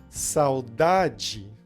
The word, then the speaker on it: saudade: Saudade, ela não é a sílaba mais forte, então ela vai ter esse som de di.